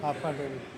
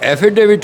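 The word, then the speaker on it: affidavit: हाफाडेविट। तो हाफाडेविट नहीं होता है। एफिडेविट होता है।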